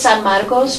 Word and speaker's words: San Marcos: that was uh the San Marcos San Marcus I got to pronounce it properly I'm a former Spanish teacher so to me it's San maros but I'll I'll I'll say